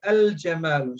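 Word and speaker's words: الجمل: When we use alif lam, it will be al-jamalu. So lam is not silent.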